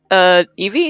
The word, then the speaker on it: Evie: Well, I also want to ask, has Evie, is that how you pronounce her name? Yeah.